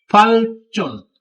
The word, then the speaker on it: 발전: 발전, ई दो फलचुन तरक्की.